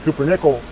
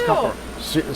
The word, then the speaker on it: cupronickel: - Cupronickel ferrum, and then I always think it says pumpernickel but it's copper nickel, I know that. - Cupronickel. - Cupro? - Cupro, C-U-P-R-O. Oh you were saying it wrong the whole time too. - I thought it's cupper.